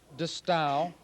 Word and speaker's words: De Stijl: vocabulary of the style the style is pronounced to style in Dutch and it means B